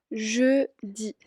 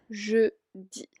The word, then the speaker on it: jeudi: De ahí, el jueves se dice jeudi, jeudi.